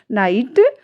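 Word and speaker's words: night: बट जब इनको pronounce किया जा रहा है इनको तो यहां पर जी एच का कहीं कोई जिक्र नहीं है। कहीं कोई उच्चारण नहीं है। नाइट स्पेलिंग जो बन रही है स्पेलिंग में जो इसकी प्रोनंसिएशन हो रहा है वो क्या है? नाइट हाई थॉट लाइट क्योंकि इन सारी ही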